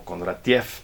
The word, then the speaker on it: Kondratiev: que es Sergei Kondratiev, o Kondratiev, pero se pronuncia en ruso Kondratiev, él propuso los ciclos económicos como ondas sinusoidales, se los denomina ciclos de Kondratiev.